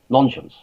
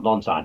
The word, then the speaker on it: Nonscience: fashionism in the original nonsense that's how i pronounce it by the way not non-science i would say nonsense because it sounds a bit like nonsense but the original launch